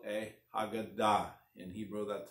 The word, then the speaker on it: Haggadah: proper Hebrew pronunciation is hogun dot usually words Hebrew words the end and the accent is on the last syllable now I know people tried to Americanize the word and they called Haggadah but it's really called